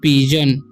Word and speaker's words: pigeon: तो पी का उच्चारण प और आई का ई, तो पी और जी ई है। ठीक है। तो जी का उच्चारण हो जाएगा ज और एन का ओ एन का न, तो पीजन।